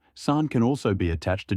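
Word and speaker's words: さん: In Kansai dialect, it's sometimes pronounced han. Beyond names, san can also be attached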